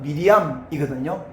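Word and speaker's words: מרים: 근데 마리아라는 이름은 헬라식 발음인데 원래 히브리식 발음은 미리암이거든요.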